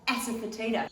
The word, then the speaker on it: asafoetida: And it's called asafoetida.